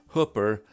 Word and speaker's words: Hooper: Residents of Hooper, Nebraska will tell you it's Hooper, like hooker with a P.